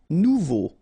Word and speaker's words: nouveau: Nouveau. Remember, combination of E, A, and U together, it's O. So you get nouveau.